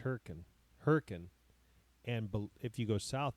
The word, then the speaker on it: Hurricane: town in Utah that's spelled hurricane but it's pronounced hurri hurrian and if you go south past it there's